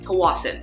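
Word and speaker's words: Tsawwassen: this area called toas so that's how it's pronounced toas and it is home of the fairy terminal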